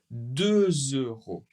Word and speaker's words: deux euros: Un euro un euro pour le deux, également une liaison deux euros deux euros Attention, le S n'est pas prononcé.